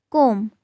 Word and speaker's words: comb: When B is followed by M, we don't pronounce B. Like comb, not comb.